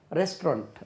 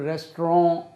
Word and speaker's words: restaurant: அதுக்கு இன்னொரு உச்சரிப்பு ரெஸ்ட்ரான் அப்படின்னு ஒரு உச்சரிப்பு இருக்குது. எப்படி? ரெஸ்ட்ரான் ரெஸ்ட்ரான்.